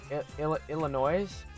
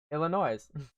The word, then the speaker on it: Illinois: hold on here hello if you pronounce the s in illinois one more time illinois i'm adopting this whole